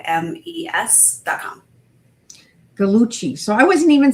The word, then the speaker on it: Gallucci: But thank you for telling me how to say galuchcci.